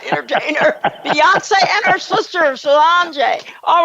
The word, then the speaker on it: Solange: Daddy, father of global dominant entertainer, Beyonce, and her sister, Solange. All right, did I pronounce her name right? Solange?